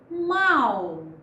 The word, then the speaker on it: mal: Já em mal, só há um som percebido com nitidez, o som do A, enquanto o U fica quase imperceptível, mal.